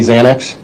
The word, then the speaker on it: Xanax: And Xanax is really spelled with an X, correct? X-A-N-A-X? Correct. But in your work as a detective, especially in the drug field, you know that people commonly think it's really spelled with a Z That's correct. because of the pronunciation.